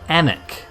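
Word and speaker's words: Alnwick: are you now ah i'm an anik of course that's spelled like the english spell all their place names and uh by that i mean incorrectly um it's ellenwick um just outside of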